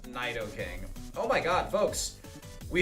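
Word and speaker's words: Nidoking: Like I have a YouTube video proving that it's pronounced Naido King.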